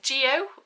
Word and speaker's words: Geo: In Jar of Hearts we follow a main character called, I think you say Geo, it's short for Georgina but they spell it G-E-O, so I'm going Geo?